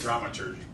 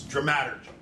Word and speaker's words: dramaturgy: I used to say dramaturgy, but it's dramaturgy.